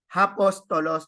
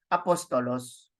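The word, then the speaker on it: ἀπόστολος: is not sounded as hpos toos no it is not sounded that way because this is a smooth breathing so this is sound as apostolos okay and then you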